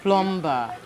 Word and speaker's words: plumber: If the B is silent in the word Plumber.